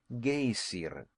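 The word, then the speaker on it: Geyser: The gazer, a word the Icelanders pronounce gayer, and which signifies fury, rose majestically from its summit.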